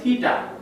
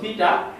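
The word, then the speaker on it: theta: থিটা হচ্ছে কি, Greek শব্দ, যেটার উচ্চারণ কি থিটা, থিটা। অনেক সময় থিটাও বলা হয়, কারণ ইংরেজি স্পেলিংটা অনেকটা এরকম। তো থিটা বা থিটা যাই বলো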